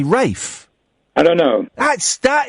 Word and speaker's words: Ralph: Why do we all know it's spelled Ralph, but why do we say Rafe?